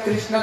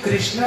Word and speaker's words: कृष्ण: जो कृष्णा नाम ना, जब तक तीन बार ये जीवा टेढ़ा नहीं हो जाए ना, ये तब तक ये नाम नहीं उच्चारण होता है। देखना आप कृष्ण बोलो कृष्णा, तीन बार ये जीवा टेढ़ा हो जाता है।